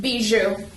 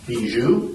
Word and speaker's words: Bijoux: Buju. Bju.